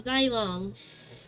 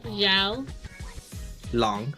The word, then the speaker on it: Zhao Long: Yeah, Zai Long. Zhao Long. Yeah, Zhao Long. Sorry, I can't pronounce it. It's okay, repeat after me. Zhao Zhao Long. Long. Zhao Long. Zhao Long. There you go.